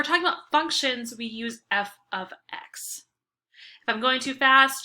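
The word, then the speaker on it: f(x): it like this and it's pronounced oops it's pronounced f of x so we write f with a parentheses x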